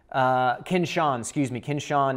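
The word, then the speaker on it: כִּבְשָׁן: And it's kinshan, kinshan is roughly the pronunciation.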